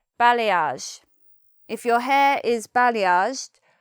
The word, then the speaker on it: balayage: In the English pronunciation we'd say: "balayage".